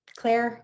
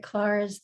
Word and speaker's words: Claar: that right is it casey clark um yes claire is how my father pronounced it but clara's the more correct pronunciation because i remember from